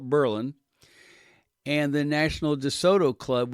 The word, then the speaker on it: Berlin: They'll be in Berlin, Ohio, pronounced like Berlin, Germany, but we call it Berlin.